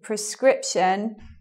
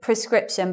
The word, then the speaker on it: prescription: But the first syllable sounds like this. Well, actually, prescription. But a lot of people say it like this. Prescription. And I think that happens because they're they're putting the stress in a different place. They're putting the stress here and making that a schwa, prescription.